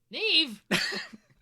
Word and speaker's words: Niamh: When you can have a name like that, like an Niamh be pronounced Neve, that's way more interesting.